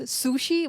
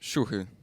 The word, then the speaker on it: siuhy: what's the right pronunciation um the right pronunciation is shuhu i mean yeah a lot of casters get mixed up call me sushi or suji like it's everything i